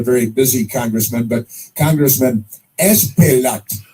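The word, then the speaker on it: Espaillat: It's I've never even heard anybody pronounce his name. He's not a very busy congressman, but Congressman Esplat, Espaiillat.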